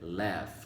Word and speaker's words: laugh: Essa última palavra aqui é laugh. Muitos alunos meus acabaram lendo, né? Porque a leitura dela, o som dela, a pronúncia, né? The pronunciation is very different than the word, né? É bem diferente da palavra, né?